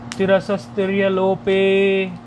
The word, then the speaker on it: तिरसस्तिर्यलोपे: तिरसस्त्रिय लोपे, तिरसस है, इसको इतना उच्चारण कर लेंगे, तिरसस तिर्य लोपे, तिरसस सस तक सकार तक ले लेंगे, तिरसस ऐसे और फिर तिर्य लोपे, इस प्रकार उच्चारण इसका कर लेंगे।